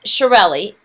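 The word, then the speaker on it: Chiarelli: name is Shirelli, but it doesn't sound like the way it's spelled. So let me give you my trick to remember me. It's Shirelli. It's like a chia pet, C-H-I-A, and then you just add Relli at the end, R-E-L-L-I.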